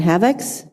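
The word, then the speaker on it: Havex: And specifically, you identified two malware attacks called Black Energy and Havocs. Is that the right pronunciation?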